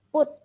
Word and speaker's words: put: Tadi cara bacanya bukan pat ya, tapi put.